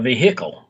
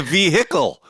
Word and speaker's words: vehicle: A vehicle. Oh, God. Why do Americans pronounce the fucking H? It drives me fucking mental. It's a vehicle.